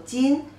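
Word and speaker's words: 斤: No, the measurement of weight, 500 gram, pronunciation is also jin.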